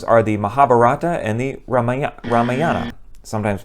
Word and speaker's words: Ramayana: The two Hindu epic poems are the Mahabharata and the Ramayana, sometimes pronounced Ramayana.